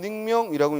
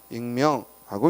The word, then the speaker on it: 익명: 반면에 익명할 때는 닉명이라고 읽는 게 아니라 뭐야? 익명하고 읽는다는 얘기죠.